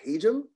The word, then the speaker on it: Hajim: I'm an assistant director in the Hajim School of Engineering and Applied Sciences Dean's Office. It's pronounced Hajim. That's often a misconception.